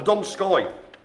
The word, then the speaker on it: Donskoy: So, started off that little bit with the Donski, or the Donskoy. Donski, we Donski beat. One for the people of the 1980s there. So it was the Donskoy, was the first one we did there.